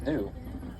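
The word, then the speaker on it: gnu: Not what it's new. It's spelled G and U. They get the name from that grunting sound that they make. So you kind of think like how a cow would be new.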